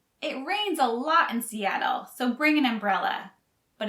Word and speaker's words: Seattle: great music and dining the ts in seattle are pronounced more like a d so we don't say seattle we say seattle seattle seattle visitors to the